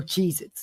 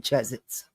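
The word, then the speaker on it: Cheez-It: You go ahead and eat the Cheezits. They're not cheesits. They're Cheezits. Thank you. I love you. I'm almost done. Yes, you can watch TV. One hour. All right. Love you. They're Cheezits, not Chzets.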